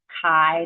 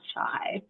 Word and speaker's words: chi: Kai Square distribution so that's pronounced Kai not chai K like Kyle or short I mean